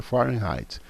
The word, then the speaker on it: Fahrenheit: de escalas termométricas fahrenheit a pronúncia fahrenheit está gente se escreve assim mas é forma em raid a escala celsius que